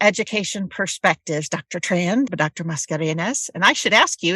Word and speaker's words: Mascareñaz: so welcome to education perspectives Dr TR Dr mascarenes and I should ask you is that the correct pronunciation yes it is pretty that's really dang